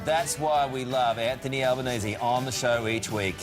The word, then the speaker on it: Albanese: And we finally got the pronunciation of your name right. Indeed. Albanese. Albanese. Because of your Italian heritage.